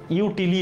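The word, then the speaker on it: util: Litre, metre, ইউটিলি এসেছে, বাট ইউটিল হবে, এটা উচ্চারণ হবে ইউটিল নাকি গ্রাম।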